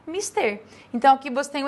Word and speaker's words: mister: Aí, na letra A, de cara, eu tenho mister. Não é mister, é mister.